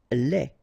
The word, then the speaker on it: lait: Lait, un lait. Okay, so the only difference is the final thing here, D, you don't pronounce it, T, you don't pronounce it, so phonetically you only have this lait.